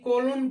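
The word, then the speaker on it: cologne: आया है अब देखेंगे सीओ एल ओ जीी यानी कोलोन पढ़ते हैं इसको कोलोन यहां भी जी क्या हो रहा साइलेंट हो जा रहा है डी ई एस आई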